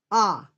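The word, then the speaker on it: Å: There is a town in Norway called A, or called A. This is the last letter of the Norwegian alphabet, and it is pronounced the same way that we would pronounce A, as in saw, A.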